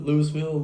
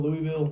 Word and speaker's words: Louisville: Louis Lewisville. Louisville, Kentucky.